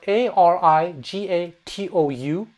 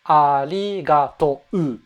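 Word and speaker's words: ありがとう: It's spelled arigatou. There's a U, but it's not arigatou. Arigatou. It's actually arigato. You extend the O a little bit.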